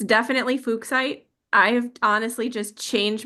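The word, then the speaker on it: fuchsite: Now I've always had fuchite but then recently I believe that the guy who found it surname was actually pronounced fukk so it is fuksite cuz always find it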